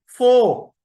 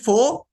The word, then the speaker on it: four: Of English pronounce it फोर, they don't utter the sound of r at the end of the word, at the end of the word they don't pronounce, so this is four and there is eras, four eras।